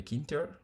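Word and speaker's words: Tkinter: allez utiliser, vous avez kinter. OK, ça s'écrit tter mais généralement pour la facilité, on va pas lire le T devant quoi.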